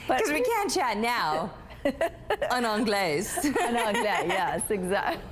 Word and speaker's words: en anglais: En anglais. En anglais, yes, exactly. The S is silent. Oh. En anglais, say that.